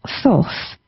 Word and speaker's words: Thoth: Now Thoth, that's how I pronounce it. Some people may pronounce it slightly different, but he is the Egyptian god of magic and manifestations.